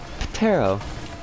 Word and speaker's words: Ptero: In Ancient Greek, the P in Pterophyllum is pronounced and not silent. Ptero.